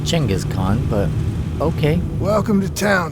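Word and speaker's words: Genghis Khan: manenas and gangas Khan gangas Khan actually his name's pronounced chenas Khan but okay welcome to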